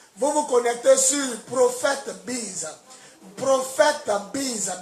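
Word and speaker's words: BYS: Si vous avez le net à la maison, la connexion, vous vous connectez sur Prophète Biz. Prophète Biz. Biz s'écrit B-Y-S.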